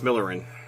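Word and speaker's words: Myllyrinne: No, it's Matthias Millerin. Matthias Millerin.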